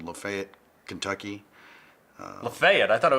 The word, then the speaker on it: Lafayette: I'm from a little town called Lafayette, Kentucky.